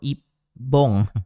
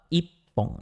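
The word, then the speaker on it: 一本: apa cara bacanya Ya cara bacanya adalah nomor satu Ipong Ipong iibong atau I Bong ya oke jawaban yang paling tepat adalah nomor dua Ipong ya untuk satuan benda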